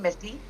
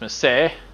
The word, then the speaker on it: Misty: Welcome to another Ashes of Creation video with me, and my lovely co-host, aka yes, Misty. or properly pronounced Miss Say, but you know, Only by you, Brad.